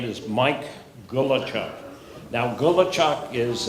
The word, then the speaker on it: Gulachok: could please indulge me repeat after me good luck Charles go with Charles garbage truck good luck garbage truck gula woodchucks